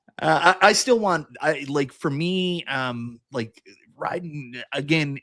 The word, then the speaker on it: Raiden: It's like Raiden, just like the Mortal Kombat character.